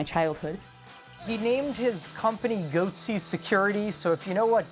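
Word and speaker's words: Goatse Security: and they're getting the goatsy picture they're called goatsy security is that my pronouncing that correctly yeah that's right we're analyzing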